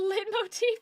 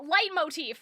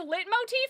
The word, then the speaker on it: leitmotif: I mean I I like um light motif, right? Light motif. There's light motif. You can say lit motif, but if you say lit motive, that's where we uh have a problem.